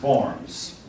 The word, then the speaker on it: Worms: Pardon me, folks, it's Worms. It's spelled with a W.